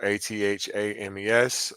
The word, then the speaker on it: athame: Like it's pronounced, I mean spelled ATHAMES or chalices, etc.